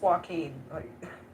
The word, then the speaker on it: Joaquin: It's just Joaquin. Hey, you sound like you're gonna spit a loogie when you say his name.